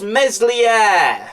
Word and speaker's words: Meslier: very good this caesar starting with uh a mispronunciation uh and excuse my french but it's meslier he is a young keeper that still has